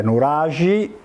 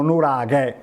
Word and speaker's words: nuraghe: Voi nel campidano la pronunciate nuragi, la K diventa G in campidanese, e nel nord Sardegna la pronunciano nuraghe.